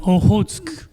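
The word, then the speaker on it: Okhotsk: It wasn't a You know, we pronounce it Ohosk.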